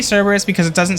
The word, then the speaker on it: Cerberus: I think, correct me if I'm wrong, but I'm pretty sure that the correct pronunciation of Cerberus is Kerberos. I think that's how you actually pronounce it, but I say Cerberus because it doesn't sound as stupid and dumb.